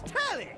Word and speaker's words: Telly: The name's Telly. Rhymes with Nelly. Like, whoa, Nelly.